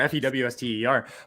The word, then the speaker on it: Fuster: It's spelled Fuster, Fewster.